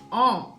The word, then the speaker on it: en: Next preposition பார்த்தீங்கன்னா ஆம். EN. இது எப்படி ப்ரொனவுன்ஸ் பண்ணுவோம் அப்படின்னா ஆம் அப்படின்னு சொல்லிட்டு ப்ரொனவுன்ஸ் பண்ணுவோம்.